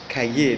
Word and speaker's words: Calles: His name is Plutarco Calle. So President Plutarco Elias Calle, that is Calles, so depending on how you pronounce it.